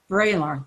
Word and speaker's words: Vraylar: And here's Vraylar, I never say it right, Vraylar, that's it.